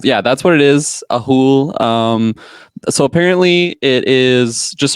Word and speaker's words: Ahool: I don't know if there's a wrong way to say it because it's kind of the noise of what it makes. It's pronounced the Ahool.